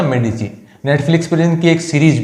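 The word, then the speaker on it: Medici: जब देखिए एक फ्लोरेंस के अंदर आपको एक परिवार का नाम याद रखना है, मेडिची। हालांकि किताबों में मेडिसी लिखा है लेकिन सही उच्चारण है इसका मेडिची।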